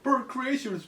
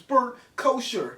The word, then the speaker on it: Bert Kreischer: know come arrest us it's not bird creatures Bert kosher yes Kakashi yeah he's